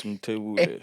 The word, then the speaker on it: Mthebule: I needed to make sure I pronounce that this time. Yeah, it's Mthebule. Yeah.